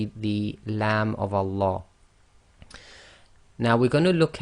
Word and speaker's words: Allah: If the sound before the name of Allah is either a fatha or a dhamma, then the Lam of Allah is going to be pronounced in a heavy fashion, i.e. tafkhim, or full mouth.